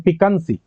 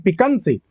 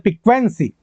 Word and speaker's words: piquancy: और सबसे last word आते हैं पिकंसी। इस वर्ड को बोलना ही अपने आप में बहुत बड़ी जीत है। पिकंसी, स्पेलिंग ध्यान दो, PIQUANCY, पिकंसी। आप इसको और अपनी तरह से बोल सकते हैं पिक्वेंसी।